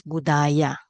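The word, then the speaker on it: Buddhāya: So here, dative for Buddha is Buddhaya. Okay, it's a long A here. Buddhaya, Buddhasa.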